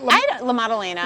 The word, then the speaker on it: La Maddalena: How do you pronounce it? La Maddalena. La Maddalena.